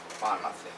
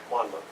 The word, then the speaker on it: Monmouth: And Monmouth College, is that pronounce that right? Monmouth. Monmouth.